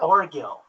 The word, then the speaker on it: Orgill: Oh, my name, Orgill, Orgill, Orgill. Orgill, yeah. Orgill. Okay, I didn't know if it was a hard G or not.